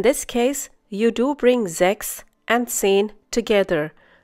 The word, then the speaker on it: sechs: We have already learned that whenever the letter S occurs at the beginning of a German word and is followed by a vowel, it is pronounced as if it were the English Z.